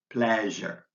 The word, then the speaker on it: pleasure: SH sound Shh and the s in pleasure is pronounced which I've written as the letters Z H pleasure step 10 is your